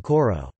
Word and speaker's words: kor: For example, some words, such as kor, meaning to hold, are now pronounced with a paragoge, as in koro.